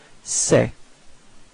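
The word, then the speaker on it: ces: set and then finally the plural form it's say all right so it's this uh it's open it's a a okay so don't be afraid to open your mouth and it's pronounced like say okay so repeat say all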